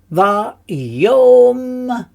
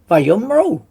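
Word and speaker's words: ויאמרו: And of course we remember that the Aleph is in white, which tells us we don't actually pronounce the Aleph, right? So therefore it's Vayomru. Vayomru.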